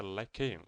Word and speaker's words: lycaon: ó, Canis lupus, e eu descobri que a pronúncia é Lycaon, pelo menos em inglês é Canis lupus lycaon.